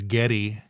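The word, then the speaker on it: Geddy: after the war and his mom pronounced Gary as Getty gy and so all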